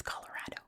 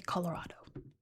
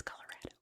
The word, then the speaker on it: Colorado: It's Colorado. Okay. Don't say Colorado. Don't do it. It's Colorado.